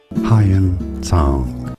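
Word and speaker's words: Xuanzang: Hyun Tsang Reports that Rajavardhan's ministers handed Rajavardhan over to Shashank for Shashank to murder him.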